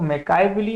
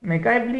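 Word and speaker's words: Machiavelli: अब अगर हम इसका प्रोनाउंसिएशन देखें तो मैकाइवली आप बोल सकते हैं।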